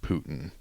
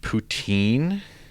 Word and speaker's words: poutine: So apparently it's pronounced poutine. I'm pretty sure it's Putin. Oh, like routine, but with a P.